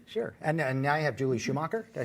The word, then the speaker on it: Schumacher: And now you have Julie Schumacher.